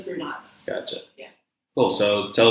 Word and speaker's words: Brunotts: Brunotts. Everybody says brunettes, but it's Brunotts.